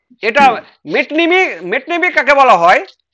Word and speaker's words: metonymy: মেট্রোনমি। স্যার ওটা নমি পড়বো না নিমি পড়বো স্যার? কোনটা? ওই যে নামটা স্যার মেট্রোনিমি। ঠিক আছে স্যার, পড়বো স্যার? হ্যাঁ মেটনেমি, হ্যাঁ ওটা পড়বে না কো, মেটনেমি ওটা ওখানে সাইলেন্ট হবে।